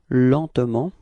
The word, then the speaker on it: lentement: Lentement. Okay. And then, well, usually in France we don't really pronounce this E between T and M, so we get this pronunciation lentement.